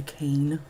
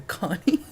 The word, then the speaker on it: Akane: I thought it was called an Akane because that's how it's spelled, Akane. But the very young woman at the apple orchard stand informed me that it's a Akane.